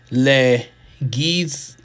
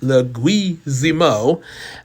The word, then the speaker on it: Leguizamo: Sounds like legu. Leguiz sounds like the word he or we with a hard G. So dwee, saying middle symbol gets a soft Z sound. Z mo. So Leguizamo.